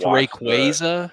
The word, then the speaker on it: Rayquaza: It's Rayquaza. It is. It's bad, which makes it's not phonetically like.